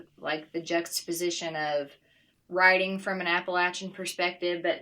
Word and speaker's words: Appalachian: Yeah, so let's hear some about how you see what it means to be Appalachian. Am I saying it right? Appalachian. Yeah, okay. You are.